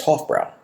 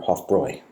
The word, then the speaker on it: Hofbräu: And it then went up against Hofbrau, or Hofbräu, the German pronunciation.